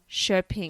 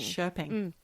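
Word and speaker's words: Köping: with two dots p i n g that's pronounced shping shping thank you Joo yes now at the age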